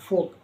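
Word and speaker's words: folk: के वोक यानी टहलना एफ ओ एल के फोक यानी जनसमूह टी एल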